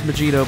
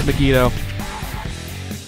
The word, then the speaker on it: Megido: the megido for so which for some reason I keep mispronouncing is magito but it's megido that was quite the